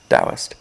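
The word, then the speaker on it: Taoist: If that's interesting to you, look up Dowist philosophy, spelled with a t ao. T a o i s t. Dowist.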